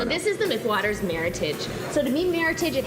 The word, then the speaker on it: Meritage: And I love the fact that you educated us on meritage, to how to properly pronounce that Meritage, wine. yeah. Meritage. Yeah. Exactly, not meritage.